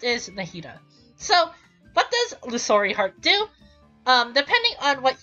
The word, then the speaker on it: Illusory: And then lastly, to her combat talents, is Illusionary Heart, or Illusory Heart. I mean, I said it wrong, but still. Illusory Heart.